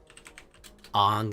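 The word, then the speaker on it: Aang: I've only ever seen the movie, and they always pronounce it Ong, so that's what I'm going to call him.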